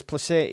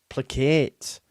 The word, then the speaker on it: placate: Oh, Fat Tony says placate is pronounced placate.